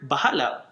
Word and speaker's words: bahala: let God handle it the word bahala it has three syllables ba ha and LA in by buying the